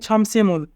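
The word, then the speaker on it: 점심을: এখানে বাচ্চিমের পরে ইয়ং থাকার কারণে মিউম ইয়ংয়ের স্থানে যাবে, তাই উচ্চারণ হবে ছমসিমুল।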